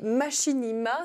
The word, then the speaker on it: machinima: vidéo et proche de celui du cinéma, les machinima, c'est comme ça que ça se prononce, oui.